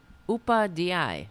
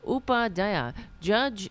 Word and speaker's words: Upadhyaya: Pronounce Upawa? Yeah. Let's see. Come on. Upadhyaya. Okay, that doesn't sound too bad. Upadhyaya.